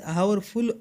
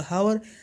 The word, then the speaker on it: hour: जब आपके पास आवर full होती है, यहाँ पर अब हावर HOUR आप हावर प्रोनाउंस ना करिए, ये गलत होगा, आप इसको आवर प्रोनाउंस करेंगे।